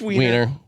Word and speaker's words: Wiener: His name is Seymour Wiener, and he was the viral super Is it fan. Wiener or is it Weiner? It's Wiener. Wiener. It's Wiener. We know this from Anthony Weiner. Spelled the same way.